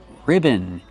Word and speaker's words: ribbon: It's two syllables. Put the stress on the first syllable. Ri ribbon. Use a short I sound like this. Is I I ribbon. And the second syllable is not stressed. It's relaxed and closed. Un ribbon.